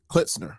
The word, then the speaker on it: Klitsner: mal with another special guest mr klitzner hopefully is that right listener you did it